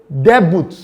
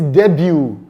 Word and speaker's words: debut: Someone will say debut. No, it is debut. Debut.